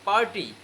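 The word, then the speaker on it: party: এবার নেক্সট আসে তোমার পার্টি, আমরা বলি না পার্টি, আমরা আজকে পার্টি করবো, এই পার্টি আর তুমি উচ্চারণ করতে পারবে না। পির সাউন্ড হবে তোমার ফ, আর রত উচ্চারণ হবে না। কি হবে? পার্টি।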